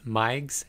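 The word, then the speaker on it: Meigs: be elevated next question what is mike's syndrome that is spelled m-e-i-g-s mike's syndrome mike syndrome consists of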